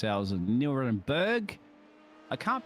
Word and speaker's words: Nürburgring: Welcome along, of course, for the 6 hours of Nürburgring. I can't pronounce the U with the double dots across it.